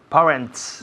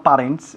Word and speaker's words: parents: Luego tenemos nuestra palabra para padres, que son, Parents. no parents, sino parents. Un sonido vocal muy largo.